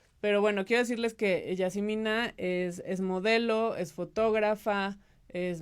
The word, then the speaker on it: Yazemmenah: Y está conmigo Yasmina Rossi, que en realidad se pronuncia Yasmina.